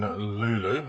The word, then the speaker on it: Luleå: So this is my hotel for the night in Luleå. I've been reliably informed that what it's pronounced.